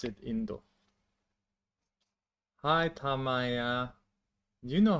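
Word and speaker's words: 인도: India is in Korea we pronounce it Indo.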